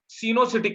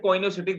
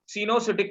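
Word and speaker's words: coenocytic: we call this situation cenocytic condition. Cenocytic condition. Some of the people call it coinocytic, that is wrong pronunciation. This is called cenocytic condition.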